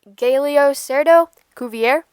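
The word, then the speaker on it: Galeocerdo cuvier: cool group of animals its scientific name is pronounced galio cerdo Cuvier it is a type of fish and carnivore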